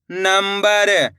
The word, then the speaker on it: नंबर: मिलके बन जाएगा संसद नम ब र नंबर इस शब्द के अंदर भी अपन ने आधा मा का उच्चारण करा है।